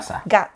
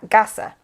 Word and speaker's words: Gasha: How do you pronounce this again? Gasha. Gasha.